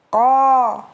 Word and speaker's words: ق: Ko. Ko. Qaqiqu baqa. Quqan qani qaqana minal muqani maqiqan qaniqa. Ingat, ko diucapkan dengan tidak disertai udara yang keluar dan dia merupakan huruf tebal.